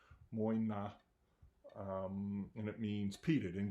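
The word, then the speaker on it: Mòine: peated line it's called Moyna um I'm not sure how you spell it but that's kind of how you pronounce it muy not and it means peated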